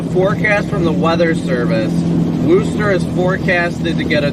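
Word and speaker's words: Worcester: that right is it Wooster is it like I I swear people kept telling me to pronounce it Wooster not like Worchester cuz everybody says Worchester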